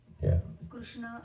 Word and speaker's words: Krishna: So Krishna and Rama that's how we chant.